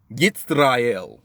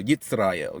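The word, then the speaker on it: ישראל: Yitzrael. You know what I'm saying? You know, say the Jewish pronunciation of Israel. Yitzrael.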